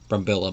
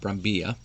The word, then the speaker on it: Brambilla: the name is pronounced, since it's a Spanish first name and the double L, so I'm just guessing that. It could be Brambilla, but I'm going to go with Brambilla.